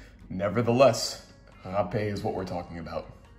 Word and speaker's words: rapé: for this i think one is difficulty pronouncing the portuguese r sound the other could be its similarity to the other word that's spelled r-a-p-e nevertheless ha-pay is what we're talking